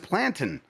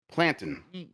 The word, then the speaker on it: plantain: It's pronounced plantain. Take a look at other words that you spell similarly. Repeat after me. Mountain, fountain, plantain.